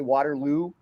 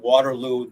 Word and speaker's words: Waterloo: I said it right my wife hates the way that I say Waterloo because I somehow put the emphasis on ooh I I don't know